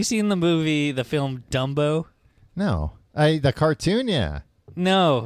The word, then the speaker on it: Dumbo: It's pronounced Dumbo. Usually saying Dunbo. No. Dumbo. Yeah. Now you've got it. Dumbbo. Was I saying done?